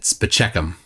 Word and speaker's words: Spaceman: The doctor was spelled spaceman, but they pronounced it Spacheckum.